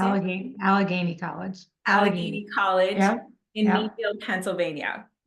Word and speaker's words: Allegheny: Allegheny College.